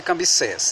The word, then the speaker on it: Cambises: A gente chama de Cambises, tal, deixa, não tem nada não. A gente pronuncia Cambises, tá bom?